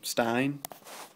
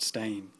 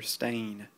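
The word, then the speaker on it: Steyn: know and he said stain his name is Peter stain like a stain on your shirt um that's coming straight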